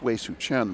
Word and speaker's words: Wei Su Chen: It's Wei Su Chen, but I call her Weiwei.